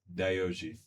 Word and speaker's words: Yohji: Yeah, cuz some of y'all be pronouncing it wrong. So let letting y'all know what it is right now. It's Dooji.